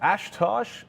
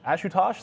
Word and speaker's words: Ashutosh: prince oh zoom what ashtosh ashutosh sorry i've mispronounced your name there and apologies for